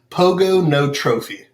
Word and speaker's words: Pogonotrophy: close so it is pogonotrophy and the easiest way to nail it every time is pogo no trophy pogo it's kind of